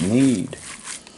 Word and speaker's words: knead: Knead. Probably a few people out there going, that's not how it's pronounced, it's need.